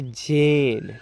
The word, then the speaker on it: Jane: Rules में बताए थे, ई का यहाँ पर उच्चारण नहीं होता है। अगर दो कॉन्सोनेंट के बीच में ए रहता है और ए के बाद ई रहता है, तो ई यहाँ पर साइलेंट रहता है।